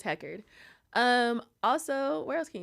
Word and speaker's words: Heckard: so I'm on Instagram it's what the Hecker but it's spelled listen w t h e c k a r d because my last name is Hecker um also where else